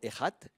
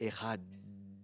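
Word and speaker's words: אחד: Le terme hébreu veut même dire étendre la prononciation, allonger la prononciation. Donc c'est pas simplement Echad, c'est Echad.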